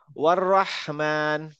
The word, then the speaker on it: الرحمن: ওয়ার রহমান। والرحمن perfect, মানে একদম perfect উচ্চারণটা পাইছি আমি, ভেরি গুড, থ্যাংক ইউ।